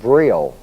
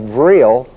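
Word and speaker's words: vril: among themselves is because they have something called vill v r i l latent in their bloodstream.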